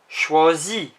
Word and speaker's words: choisis: Je choisis. Notice the S isn't said. Je choisis. Next we have you. The ending is also IS. Tu choisis. It is also not said.